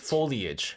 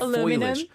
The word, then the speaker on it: foliage: Foliage. Foliage. Foliage. Foliage. Foliage. I kept on saying foilage.